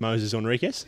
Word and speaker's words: Moises Henriques: Uh, I think I'm pretty sure it's Moses Henriquez, but uh, I've heard of so many variations now that I'm fairly confused as well. We probably keep being pronounced the wrong way anyway, but um, there you go. That's how it is. How is it, Mitch? How's it go? I'm just going to stick with Moses Enriquez.